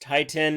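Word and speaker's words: titin: this protein called titan' it's really pronounced tighten it is missing a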